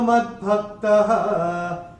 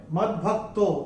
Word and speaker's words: मद्भक्तः: मन्मना भव मद्भक्तः। आपकी किताब में मद्भक्तो ओ दिख रहा है। पहले चरण और तीसरे चरण की समाप्ति पे ओ का उच्चारण जो है वो विसर्ग होता है।